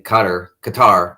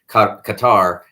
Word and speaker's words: Qatar: 2022 World Cup in Qatar. They're saying now Qatar. We've now been made aware that's the preferred pronunciation.